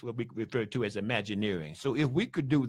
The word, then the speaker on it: Imagineering: imagine imagining in being we just put the earring on it imagine imagine earring Imagineering okay so in Imagineering that